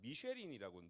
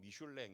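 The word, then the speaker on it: Michelin: 미쉘린이라고 들어보셨죠? 미쉐리는 이제 프랑스 발음으로 하면 미슐랭 이렇게 됩니다.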